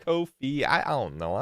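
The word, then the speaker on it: Ko-fi: Except they say it's pronounced Kofi.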